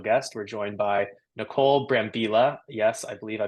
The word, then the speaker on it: Brambila: We're joined by Nicole Brambila. Yes, I believe I pronounced that correctly.